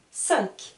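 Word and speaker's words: cinq: 5. Ça s'écrit C-I-N-Q. Le Q, j'entends K. Je fais la liaison avec le E, j'entends le son K.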